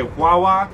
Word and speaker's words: guagua: So pronunciation, it's the same. Say Wawa, but depending on who you're talking to, it could mean get on the bus, yeah.